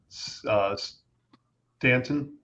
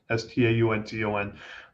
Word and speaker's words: Staunton: Benton, Stanton, or do I pronounce it Staunton? Staunton.